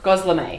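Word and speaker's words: gözleme: Gosleme.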